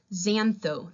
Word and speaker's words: xantho: then the commanding form xantho that excess pronounced as a Z xantho means yellow if